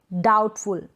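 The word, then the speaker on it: doubt: डाउट, डाउटफुल, यहाँ पर B pronounce नहीं हो रहा है।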